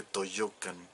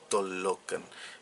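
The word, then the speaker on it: Tollocan: Yo he escuchado, hay una avenida que se llama Tolocan, pero se escribe Toyocan, y ya la gente dice Toyocan, y ya es la manera oficial, se puede decir, de pronunciarse. No debería ser así, es Tolocan. En náhuatl una L larga se escribe o se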